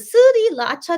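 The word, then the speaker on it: 3RACHA: Yeah, Three Racha, yeah, are insanely talented. Or is it Suri Lacha? That's how it's pronounced in Korean. I should probably say the Korean way.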